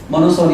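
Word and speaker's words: monopsony: What market? मोनोसोनी market, P silent, मोनोसोनी market.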